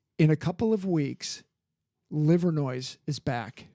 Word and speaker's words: Livernois: It's actually pronounced Livin' Noir.